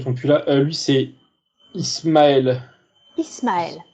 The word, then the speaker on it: Ismaël: Lui, c'est Ismaël. Ismaël. Ismeal, comme ça se prononce.